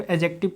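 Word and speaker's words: adjective: यहाँ पे क्या है जी, यहाँ पे आपको एक डी दिखाई दे रहा होगा, लेकिन यहाँ पे डी का जो साउंड होता है वो क्या होता है जी, यहाँ पे डी साइलेंट होता है।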